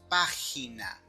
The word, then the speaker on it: página: se escreve igual, e em espanhol decimos página, tá? página.